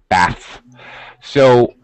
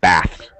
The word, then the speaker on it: baths: Bath. So, actually, because it's a little more difficult, it's important to pronounce the s, less important to fully pronounce the th. So, it has a slightly reduced pronunciation. Baths.